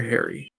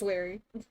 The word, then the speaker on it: Larry: Is it Larry or Harry? It's Larry. She's the one saying it wrong.